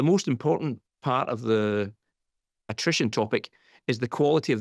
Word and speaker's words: attrition: Eh och sen så då väldigt låg vad hur uttalade du det här Martin? Attition rate va? Attrition.